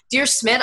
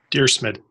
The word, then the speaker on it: Dyrsmid: know the correct pronunciation dear Schmitt dear Smith okay sounds German to me a little bit